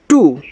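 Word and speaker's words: to: ऐसे फ्लू फ्लू ऐसे टी ओ टू टी से ट और इसको टो नहीं पढ़ना है इसको टू पढ़ना है क्योंकि हर हर जगह ओ ओ की मात्रा नहीं देता है।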